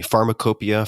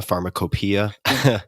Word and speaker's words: pharmacopoeia: you can tell me, pharmacopoeia, pharmacopoeia? Both are correct.